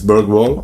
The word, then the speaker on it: BERGWALL: My name is BERGWALL, or BERGWALL as it's pronounced in Sweden, and today I want